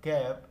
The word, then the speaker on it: quay: Six question है, वाई did Maithili not take a कैब एट the ministers house but took one ऑन द के। कि ये यहाँ पर QUAY, इसका प्रोनाउंसिएशन है की, तो की यानी कि